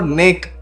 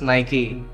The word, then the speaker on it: Nike: No more Nick, Nike, or Nike. It's always just Nike, the way it's meant to be.